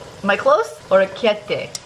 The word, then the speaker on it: orecchiette: Orecchiette. Am I close? Orecchiette. I can't roll the R very well, but I know it's not a CH.